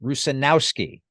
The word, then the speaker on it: Rusanowsky: Try to sound it out, and generally, not always, but generally, the accent, the accented part of the name is on the second to last syllable. Example: Rusanowsky.